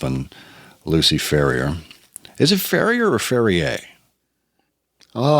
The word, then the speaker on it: Ferrier: Is it Ferrier or Ferrier? Oh, I think like the dog or like the sparkling water. I think it's like the dog. I think it's like the American pronunciation of the Ferriers.